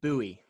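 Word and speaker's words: Buie: Bowie.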